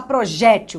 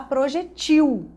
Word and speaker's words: projetil: Porque se à sua frente você tem a palavra sem acento, então você não vai falar projétil, você vai falar projetil. Porque se você pronunciar projétil, você está acentuando a penúltima sílaba.